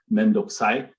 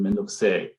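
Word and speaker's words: 面倒くさい: Instead of mendokusai, you have mendokuse, which is a very casual Tokyo male kind of form that you might hear.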